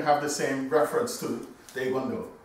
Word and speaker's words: Taekwondo: So, DaeGwonDo, meaning, and there's no T in the Korean language either. It's a D-A-E when pronounced properly. It's like a T-D sound saying DaeGwonDo.